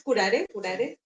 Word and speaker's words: Curare: Es curare. Porque esa pronunciación también es dije cómo se pronunciara y está está bien.